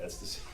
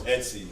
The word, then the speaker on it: Etsy: If you'd like to get, listen, man, if you haven't hopped on Etsy and check, is that how you say it, Etsy? Yeah. ESTY. Wow. Sometimes I be calling it ecstasy.